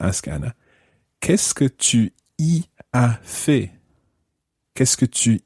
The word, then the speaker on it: y: Anna, qu'est-ce que tu y as fait? Qu'est-ce que tu y as fait? Now, that E in there is a tiny little word. It's spelt Y, just Y on its own, and it means there.